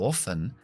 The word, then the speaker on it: often: Puedes decir, si quieres, often. Often. Yo digo often, pero puedes elegirlo. En el diccionario están las dos.